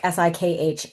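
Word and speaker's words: Sikh: And so sick often pronounced sick s i kh like sick with that little vocalization at the end.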